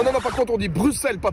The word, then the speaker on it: Bruxelles: On dit Bruxelles, avec un... Mais ça s'écrit avec un X.